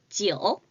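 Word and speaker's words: 酒: 지오. 지오. 우리 한국이랑 똑같이 술 주자를 한자로 사용을 하고요. 숫자 9와 발음이 똑같습니다. 지오.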